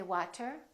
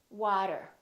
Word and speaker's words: water: We don't say water, we say water.